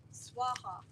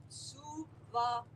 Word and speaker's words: Suvaha: Unfortunately, they say Om Bhura Bhuva Swaha. No. Kalashwar said that's an insult to the energy of the mother. It is Om Bhura Bhuva Suvaha. 3 separate equal syllables, not Swaha or Swaha.